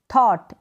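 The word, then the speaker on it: thought: Next ये है flight, light, bright, थॉट। इस तरीके से आप GH का उच्चारण सीखें और इनको पढ़ें।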